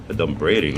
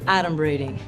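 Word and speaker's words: adumbrating: 38 points for me don't braiding that's not even a word I get first of all it's pronounced Adam reading it means pretending foreshadowing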